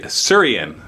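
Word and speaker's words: Asuryan: Doom and Will of Asuran. Asuran? How do you say that? Asurian. Okay, that sounds better than what I was saying.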